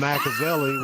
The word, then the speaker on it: BlackAvali: So, and the one album BlackAveli, well, I'm biracial. I'm biracial IRL. So I was just like, something that rhymes with Machiavelli. I was like, oh, BlackAveli.